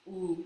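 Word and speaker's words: Wu: And I know it's not pronounced like that. If you pronounce it in traditional Chinese, it's woo, but it's W-U.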